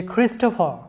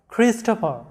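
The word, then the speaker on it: Christopher: তারপরে কয়েকটা নাম দেখো যে ক্রিস্টোফার, লক্ষ্য করো ক্রিস্টোফার। এরপরে খ্রিস্টিনা, এখানে ক্রিস্টোফার এবং খ্রিস্টিনা এটা রুলসের মধ্যে পড়েছে অবশ্য যে CHR আছে, যার কারণে ক এর মতো উচ্চারণ হয়েছে।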